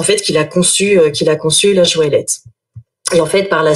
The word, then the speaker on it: Joëlette: Alors, en fait, Joëlette, vous pensez à Joël. C'est comme une petite Joël.